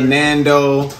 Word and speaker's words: Nando: things great got the nando which rhymes with lando from star wars we got shane old